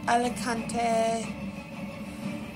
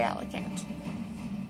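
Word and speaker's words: Alicante: city alant that's how I pronounce it some pronounce it alante or something like that I say alicant so yeah well this is it and bye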